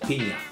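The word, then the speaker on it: piña: a wanker guess no that's how you pronounce it pina so it's a pina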